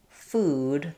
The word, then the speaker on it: food: So, you can practice put your foot versus something like um new food. Those both have the oo vowel.